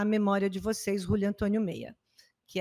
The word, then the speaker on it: Mella: Se escreve Mella, M-E-L-L-A, Meia, em espanhol, tá?